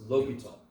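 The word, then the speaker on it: L'Hôpital: l hospital no but it's lokol yeah some books don't have the s in there but they're spelling his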